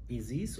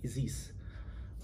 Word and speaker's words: Isis: something Egyptian, you know, like we have our own pronunciation to it, so we say Isis, Osiris. It's not Osiris, it's not Isis or whatever.